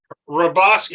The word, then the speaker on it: Hrabosky: Hrabosky is Hrabosky. HRA. No, the HR could be Hungarian with a little a Polish twist or something.